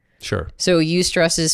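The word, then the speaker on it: eustress: So ust stress is spelled e u s t r e s ss and ust stress is considered like you can almost think of it as like positive stress.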